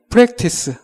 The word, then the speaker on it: practice: practice. 정확히 발음하자면 아하고 어하고 그 중간 발음이라고 생각하시면 됩니다. 아하고 에하고 중간 발음. 아에 그렇게 발음하시면 됩니다.